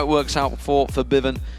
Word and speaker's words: Febiven: it works out for Bivin, who we have been told to pronounce it that way, by the way, if anyone's wondering why we've changed it from Febiven to Forbidden.